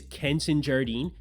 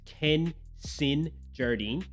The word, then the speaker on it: Kenson Jardine: may not be aware my name is kenson Jardine that's Ken sin Jardine and I just know